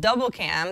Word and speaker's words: Dblcam: An app called Double Cam that's spelled DBL CIM kind of sort of achieves this.